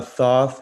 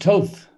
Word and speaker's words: Thoth: is the word uh thoth he's like the half bird god um you know that's pronounced toth oh toth okay toth um but the